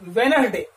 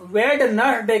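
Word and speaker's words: Wednesday: तो यहां पर जो है डी जो है ये कैसा है, साइलेंट है, वहां पर उसका प्रोनाउंसिएशन नहीं किया जाता, उसका उच्चारण हम नहीं करते हैं।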